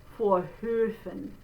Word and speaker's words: Vorhöfen: So if you want to build up to it, do O first, that's one way, O, and then through it, while you're holding it out, do A.